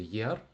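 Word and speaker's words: year: Наступне рік - це буде єр. В множині це просто єрс. Добавляємо си. Е, до речі, замітьте, що в слові рік - це вийняток. В нас не діє правило, що еа - це буде і, бо якби в нас воно діяло, ми би сказали с, а воно не діє в нас.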